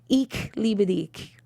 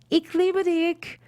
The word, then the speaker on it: Ich liebe dich: Well, it is pronounced Ich liebe dich. Ich liebe dich. Ich liebe dich.